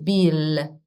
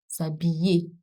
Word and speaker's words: s'habiller: Not Bill. It's not Bill. It's not Bill. I think I've mentioned this before. I-L and I-double-L in French are pronounced I. Je m'habille. S'habiller.